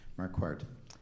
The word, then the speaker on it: Marquardt: I always try to pronounce it like a French name, and it's not. Marquardt.